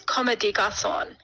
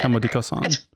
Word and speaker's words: Comme des Garçons: I think it's Comme des Garçons is how you say it. Comme des Garçons.